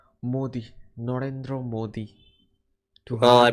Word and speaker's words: Modi: mind mindu Modi no I thought it was merma no it's Modi Narendra Modi well I